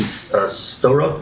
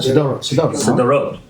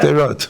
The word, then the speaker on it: Sderot: I believe it took place in Storot. Is that how you pronounce it? Sderot. Yeah. Sderot. Yeah.